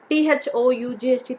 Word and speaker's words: thought: here knight we say t h o u g ht thought again here g h is silent here in this word thought show s h o